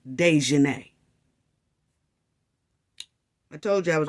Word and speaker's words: Daejhanae: She spelled them different on purpose, but it still pronounces Daejhanae.